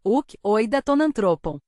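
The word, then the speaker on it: οὐκ οἶδα τὸν ἄνθρωπον: É assim que se pronuncia uk, oida tonantropon.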